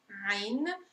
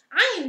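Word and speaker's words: عين: Ain.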